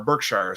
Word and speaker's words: Berkshire: long ago I think they were Brookshire or Berkshire is how you pronounce it but but no